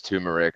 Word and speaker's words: turmeric: many benefits to both I say it wrong yes it's tumeric okay whatever um but yeah